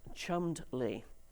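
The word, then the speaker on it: Cholmondeley: The second word is pronounced chummed lee.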